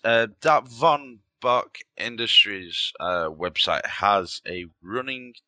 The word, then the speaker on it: Von Bach: It's spelled it's pronounced Von Bach, ain't it?